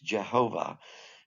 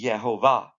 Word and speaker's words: Jehovah: That's a close way to pronounce this in English, Jehovah. But if you just make the J a yay, a Y, the Y sound, it would be Yehovah. The accent's always on the last syllable.